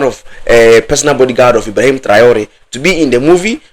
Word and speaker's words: Traore: Ibrahim Traore, and that is how it's supposed to sound in your ears.